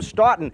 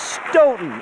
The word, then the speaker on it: Stoughton: out our players names is from Staunton let's welcome Carter Spitz Smith lots of office actually it's Stoughton isn't it yes it is the